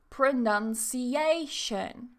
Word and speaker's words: pronunciation: this is the secondary so in the word it sounds like pronunciation pronunciation so notice that none is still stressed but it's not as strong as a pronunciation same with classification exactly